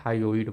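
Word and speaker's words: hyoid: गई उस उसके बाद एक बोन आता है हायो इड बोन जिससे हमारी जो टंग होती है वो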